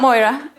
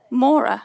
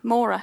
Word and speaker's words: Maura: on she's linear TV it's not Moira it's um how do you how do you say well how do you say her name Maura Maura so I thought oh god